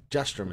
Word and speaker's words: Jastram: Jastram is how you say her last name.